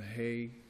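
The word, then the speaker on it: Haigh: there's no discussion of the, for lack of pronunciation, the Hay, H-I-A-G-H case.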